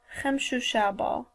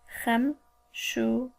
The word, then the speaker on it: Chemshushaba: Thursday is pronounced Chemshushaba. Chemshushaba. Remember what I said about the light phlegm? Chemshushaba.